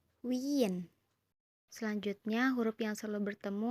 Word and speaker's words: Wien: Kemudian ada yang selalu bertemu yaitu huruf I dan E. Dibacanya I. I. Contohnya dalam kata wien.